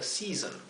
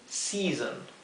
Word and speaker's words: season: Tanto en year como en season. Fíjense, fíjense la combinación de la e y la a. Este sonido vocal hay que pronunciarlo más largo.